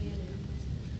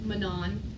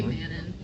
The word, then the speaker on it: Manon: Her name's Manon. Sorry. It looks like it should be Manon, but like Manon.